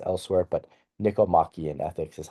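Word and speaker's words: Nicomachean: Um you'll see other pronunciations elsewhere, but Nikomakian ethics is how I pronounce it.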